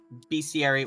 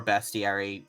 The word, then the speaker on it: bestiary: that MIM says uh I think either these are best yeah BC area or bestiary it just your accent of choice okay Willie would have